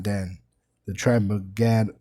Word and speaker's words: Gad: Dan the tribe of Gad or as it is pronounced properly God which are the Native American Indians.